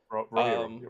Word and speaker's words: Rohirrim: Rohirrim, possibly. Rohirrim, yeah. I'm sorry for any Lord of the Rings fans. I apologize. Rohirrim, right.